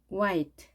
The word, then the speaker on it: white: 흰색, white, white. 예전에 우리가 학창 시절에 흰색을 화이트라고 했습니다. 히읗 발음을 했는데 히읗 발음 하지 마시고 이응 발음 하십니다.